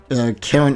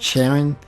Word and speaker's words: Karen: Now we get to meet our second playable character, Karen Archer. At first I thought it was pronounced Sharon. I never thought of pronouncing it with a K.